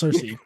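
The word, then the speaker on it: Sersi: s i I think but it's pronounced it's pronounced Cersei so like that can't be missed and I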